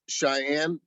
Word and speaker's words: Shyanne: So do you go, is it pronounced Shyanne? Correct.